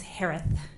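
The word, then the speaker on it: Herath: Last name is pronounced like Harris with a lisp. It's Harith.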